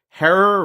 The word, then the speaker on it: Herer: If you're thinking we must be talking with the man Jack Herer, rhymes with terror, the Hemperor himself, I've got some unfortunate news for you, which is that he passed away quite a few years ago.